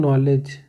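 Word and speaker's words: knowledge: ठीक है, तो अब यह ध्यान से देखिए, इसमें के भी इंक्लूड है, लेकिन हम सिर्फ नो से पढ़ रहे हैं, हम सिर्फ इतना पढ़ रहे हैं, नॉलेज ही पढ़ रहे हैं हम इसको, का नॉलेज नहीं पढ़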